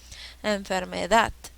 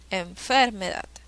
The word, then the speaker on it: enfermedad: esdrújula siguiente palabra enfermedad separemos en sílabas cuál es la sílaba que lleva la mayor fuerza de voz la que lleva el acento enfermedad enfermedad enfermedad enfermedad la sílaba que tiene la mayor fuerza de bolt es enfermedad la edad qué tipo de